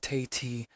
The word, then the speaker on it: Tate: First up was her fiancé, Roland Tate, pronounced Tay-T, the investment banker Evelyn mentioned.